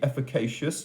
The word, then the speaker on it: efficacious: I think it's a hard C. Efficacious, not efficacious.